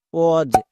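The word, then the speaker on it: pause: ও কো এস এর জন্য বর্গীয় জো তাহলে উচ্চারণ কি হলো কজ একই রকম ভাবে পি এ ইউ এস ই ক ওজ নেক্সট এবার আমরা দেখে নেব সেমি ভাওয়েল আমরা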